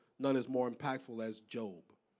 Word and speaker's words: Job: probably none is none is more impactful as job it's spelled job but its name pronounced job it's in the Old Testament now job is